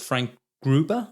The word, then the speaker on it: Frank Gruber: And one of the other guild members, called Frank Gruber, I think is how you pronounce it, says that L.